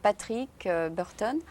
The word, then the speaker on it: Patrick Burton: de ta part d'offrir ce service donc c'était patrick burton ça se prononce comme ça dans ton dos rond en